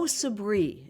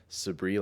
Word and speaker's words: Sabri: There's Sabri, like as you said it, and there's sabri as well. And it's it's interesting because the dy, you know, the south Asian folks will say sabri.